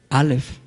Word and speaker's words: alef: la primera letra del alfabeto hebreo es alef alef la pronunciación correcta que es el número uno y